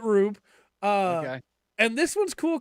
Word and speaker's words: R/B: And then Ultraman Rube is the last one that I watched. And if you think that title sounds weird, that's because it's Ultraman R/B, but they pronounce it Rube.